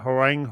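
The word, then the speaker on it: Hwoarang: like zooming punch but Huang I think that's how you pronounce it Harang Harang and here's the dude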